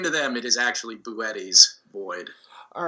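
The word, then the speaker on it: Boötes: Yeah, it is Boetti's, and I've gotten that wrong for about a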